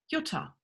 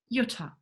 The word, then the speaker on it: Jutta: Now you can understand why my name is pronounced Jutta. Mein Name ist Jutta.